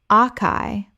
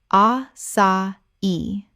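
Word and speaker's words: açaí: espresso espresso Word 30 acai Common mispronunciation akai or assai Correct pronunciation a sa i Three syllables The accent on the final i tells you to stress the last syllable.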